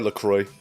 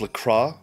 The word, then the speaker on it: LaCroix: does adam make asmr lacroix in french it's lacroix but it's fine if you say it like lacroix in english ah i see i